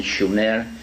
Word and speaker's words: Sumer: sooner in in in the correct spelling and pronunciation schumer which meant the land